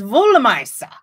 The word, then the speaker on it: Wollmeise: Jenna says, my pronunciation is correct. Woo! My pretend German worked. No, it's Wollmeise.